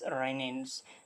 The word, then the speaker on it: renin: So both of this are basically pronounce as रेनिन्स।